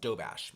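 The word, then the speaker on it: Doberge: Okay, so it's a multi-layered cake and it's pronounced dough bash.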